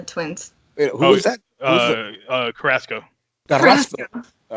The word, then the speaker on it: Carrasco: Carrasco.